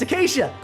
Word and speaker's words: Acacia: Now I know how to pronounce that! That's Acacia! Going back to Australian, thank you, Bae, for messing up what Acacia is actually pronounced like, because actually I think I pronounced it like you way back in the day.